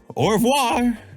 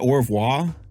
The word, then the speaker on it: au revoir: Au revoir. That's how you say it, au revoir?